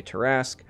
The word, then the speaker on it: Tarrasque: And speaking of other items that had their cost reduced, Ring of Tarrasque, I've heard it pronounced a number of ways. I always say Tarrasque.